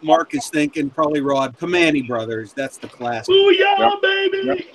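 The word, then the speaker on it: Primanti: Never heard of Joe, if Pamani Brothers was actually designed Joe, around I'll spell it out for you. You'll never sound it out. It's PRIMANTE apostrophe S.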